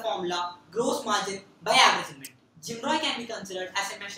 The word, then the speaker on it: GMROI: insights on the concept gmroi typically pronounced as jimro gmroi stands for gross